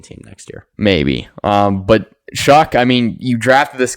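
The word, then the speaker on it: Shough: Shuck. His name's Shuck. That's how you pronounce it? I thought it was Yeah, it's like sh. It's weird. I thought it was like show. No, it's Shuck.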